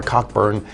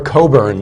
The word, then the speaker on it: Cockburn: don't ask for a Cockburn as for a Coburn that's how you pronounce in England it's it children it's